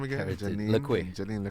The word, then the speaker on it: Lequay: Pronounce her last name again. Janine Lequay. Janine Lequay.